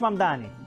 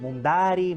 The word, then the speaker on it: Mamdani: Fíjense, nadie sabe pronunciar mi apellido. Es mamani, pero a cada rato me dicen Mundari, Mumnari.